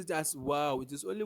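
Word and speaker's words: واو: you don't pronounce like how never but you pronounce it as wow it is only W that have that way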